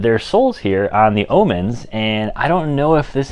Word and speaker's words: Ohman: But anyways, guys, this video is a little bit about the new Brunt Omens. And yes, that's what they're called, the O-H-M-A-N. I checked that's how they're pronounced, and I know I've pronounced these as Marlins in the past.